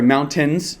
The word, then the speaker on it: mountains: so or i'm sorry mountains sorry here in colorado we don't we don't pronounce the t um and uh yeah